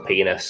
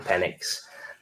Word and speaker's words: Penix: show but it's uh Michael penis I mean Michael penck uh yeah the Falcons